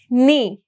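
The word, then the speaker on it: knee: words देखेंगे जैसे कि नी नी में आपका क्या साइलेंट है के इज साइलेंट और न्यू में भी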